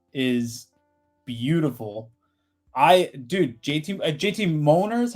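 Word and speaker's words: J. T. Mollner: I Dude, JT JT Molner is how you say it, right?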